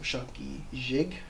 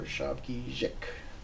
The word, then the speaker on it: Shabogesic: And so while it can be written with a K or a G, and it can sound either way, linguistically it's written as a G, but you can pronounce it as a G or K. So Shabogesic or Shabogesic.